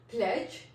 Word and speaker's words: pledge: For example, pledge, P-L-E-D-G-E, pledge. इसमें DG इकट्ठा आया, तो जहाँ पे DG हमारा इकट्ठा आता है उसमें D जो है वो साइलेंट हो जाता है, तो हमारा क्या वर्ड बनता है? P-L-E-G-E, pledge, pledge. D, although it has a word, it has alphabet of D, but we will not pronounce this D.